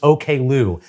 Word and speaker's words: Oklou: Oh boy, we've got OK Lou's Choke Enough. And just so you know, her name is pronounced OK Lou.